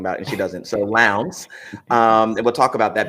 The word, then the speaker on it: Lowndes: Lowndes. Lowndes.